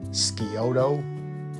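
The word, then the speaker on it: Scioto: she was born in and I hope I pronounce this right skiodo County Ohio and that County's name is spelled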